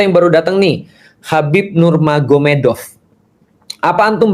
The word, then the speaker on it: Nurmagomedov: Jadi tulisnya Magomet tapi bacanya Mahomed kan gitu kan ya. Jadi Nur Magomedov itu jadi Nur Mahomed.